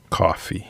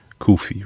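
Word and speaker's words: Cuffe: Tomorrow will probably be Paul Coffey, I believe. Kufi, rather. Sorry. Got to pronounce that right. Kufi.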